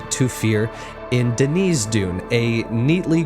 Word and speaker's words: Thufir: on the hill that it's pronounced Tufir. Sometimes TH just makes the T sound. And this is one of those times.